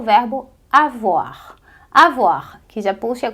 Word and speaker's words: avoir: muito importante no francês que é o verbo avoar a voar que já puxa coisas que você